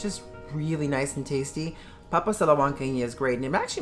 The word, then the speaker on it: papas a la huancaína: Number 7, oh my goodness, is papas a la huancaína.